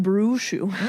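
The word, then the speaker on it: Castelobruxo: Castello Bruxu. Brushu. I see it now. Like Mushu, but Brushu? Like Mushu, but Bruxu.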